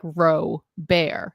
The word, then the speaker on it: Robar: email I was like my last name is robar pronounced like Ro bear and it became a